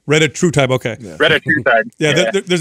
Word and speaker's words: retatrutide: I can't pronounce the name. It says you're a pharmacist. You probably know the name. It's retatrutide. Retatrutide.